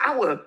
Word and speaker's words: hour: Why is the word hour spelled with an H? Why is there an H? The silent H.